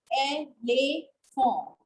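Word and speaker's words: éléphant: So that is why we call elephant. Because it is giving a sound to letter E. And T in the end has to be treated silent. So it becomes elephant.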